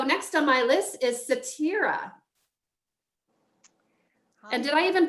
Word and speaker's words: Setareh: All right, so next on my list is Satira. Hi. And did I even pronounce that right? Yeah, it's Satire. not Satire. Satire. Thank you for that. Call me. Yes, Satire.